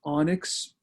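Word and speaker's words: ONNX: technology to know is onyx o and nx pronounced onyx onyx is a platform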